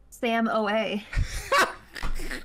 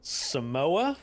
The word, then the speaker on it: Samoa: the new lava map called uh s Samo Samoa with these nuts in your mouth Sam have you seen this new map no no do you know what it's called Sam OA all right we're going to play the new